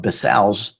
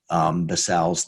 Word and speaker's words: BSAAO: We get into the real meat of basals, and you can pronounce it that way if you want to or not, of non-manure-based basals, because